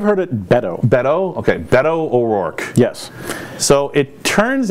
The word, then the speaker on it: Beto: So, how do you pronounce his name? Is it Beto? I've heard it Beto. Beto? Okay, Beto O'Rourke.